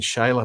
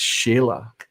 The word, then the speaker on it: Sheila: getting it confused but i believe that i've been saying shiloh but it's sheila sheila i've just discovered